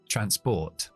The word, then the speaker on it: transport: palabras juntos Pero bueno trans al principio tenemos una Silva cerrada con la ns aquí trans Así que la a es corta trans y luego tenemos Pot la o más r hemos dicho que siempre es o no siempre en la mayoría de los casos transport siguiente palabra es dema